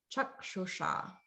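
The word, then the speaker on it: चक्षुषा: So it's like a sh, but the tip of the tongue is pointing up towards the palate. So it's kind of curling back just a little bit. Chakshusha. Okay, so that's what that will sound like.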